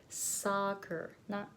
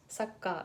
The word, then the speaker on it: soccer: it and that's because this one has more depth to it it takes longer to pronounce this sound so soccer take your time soccer slowly and say soccer Saka right so it becomes Sokka if it it becomes really short it sounds like Sokka Sokka ha so please